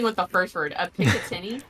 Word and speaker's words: Picatinny: A Picatinny? Picatinny.